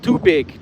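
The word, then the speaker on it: tubig: Um, Debb says, "Tagalog word for water is pronounced too big.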